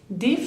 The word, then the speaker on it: des: ejemplo, des fruits, D-E-S, acuérdense que la S final no la pronuncio, entonces es como que la acentúo la E, D, como la letra D, de fruits, frutas, como un poco en inglés, de fruits.